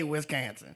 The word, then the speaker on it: Wisconsin: But, what he has to acknowledge is that people from Wisconsin say Wiscansin.